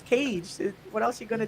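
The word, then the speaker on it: Kage: i love legend of cage because it's pronounced cage not cocky i've been saying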